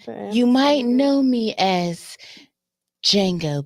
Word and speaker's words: Django: You might know me as Django, but the D is silent.